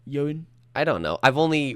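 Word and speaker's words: Ioan Gruffudd: How do you say it? I don't know. I think it's Yoan. Yoan.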